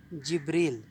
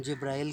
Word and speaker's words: جبریل: کا لفظ ہے جبریل۔ جبریل جس کو ہم جبرائیل کہتے ہیں، یہ جبرائیل نہیں ہے، یہ لفظ ہے جبریل۔ جس طرح سے مثال